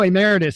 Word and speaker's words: emeritus: a mcnight professor I don't know how to pronounce emiritus Emeritus oh Emeritus sorry about that that's all right at the